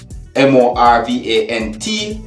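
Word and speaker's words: Morvant: Alright, now please bear in mind that the word Morvan is spelled M-O-R-V-A-N-T, but according to Trinidad and Tobago's English dialect, it is pronunciated Morvan.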